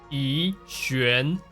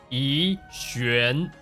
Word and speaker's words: Yixuan: So the first characters, her name actually pronounced as Yixuan, Yixuan. And when we say her name normally, it would be Yixuan, Yixuan. The first character is E.